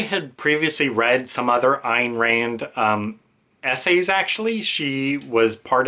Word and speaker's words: Ayn Rand: Not Anne Rand, Ayn Rand.